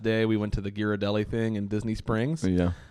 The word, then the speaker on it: Ghirardelli: I think the last day we went to the Ghirardelli thing in Disney Springs.